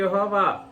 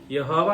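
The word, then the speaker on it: Yahweh: యెహోవా అనేది కూడా వాస్తవానికి ఉచ్చారణ కరెక్ట్ కాదు, ఉచ్చారణ కరెక్ట్ కాదు. ఉచ్చారణ కోసం యెహోవా అన్నటువంటి పదజాలం వాడబడింది, కానీ వాస్తవానికి YHWH అని అంటే ప్రభువు అని అర్థం. అర్థమైతే ప్రభువు. YHWH అని అంటే దాన్ని మనకు కుదరదు, యహ్వే అన్నట్టుగా వస్తుంది అన్నమాట.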